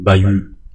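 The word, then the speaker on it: bahut: le bayou. le bayou هو المدرسة. le bayou اش لا تنطق بايو كأن با يو تي كذلك اش تي لا تنطق بايو لو با يو لو بايو المدرسة.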